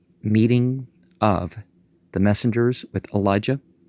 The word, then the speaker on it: Elijah: a false god, meeting of the messengers with Elijah, pronounced Eliyahu, the rebuke and prediction, the parties sent to